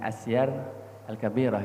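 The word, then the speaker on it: السير الكبير: Kami sangat tertarik dengan karya kitab Asyar Al-Kabir atau As-Sayrul Kabir ya, bacanya Asyar Al-Kabirah ya.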